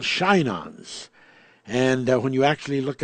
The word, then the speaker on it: Shinons: the 68th chapter of Psalms, and it's called Shinons. And when you actually look up the word, that would be the pronunciation of it, like S-H-I-N-O-N-S, Shinons.